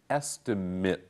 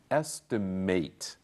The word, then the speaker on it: estimate: Notice the last word here is pronounced estimate. As a verb, the same word is pronounced estimate.